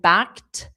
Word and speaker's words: backed: Just you need scratched in the past simple and backed in the past simple. Both of them are with the pronunciation of T. They're both ED, but it's pronounced T.